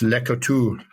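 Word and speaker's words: Le Couteulx: So I know the French don't pronounce everything. So it's uh you get here and it's legal talks, but it's French and it's Leotu.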